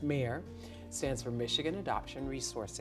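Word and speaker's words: MARE: a r e that that is pronounced mayor stands for Michigan Adoption resource exchange and um I went to a mayor booth having no idea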